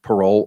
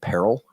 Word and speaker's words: parol: P A R O L no E parole or some lawyers would pronounce it peril.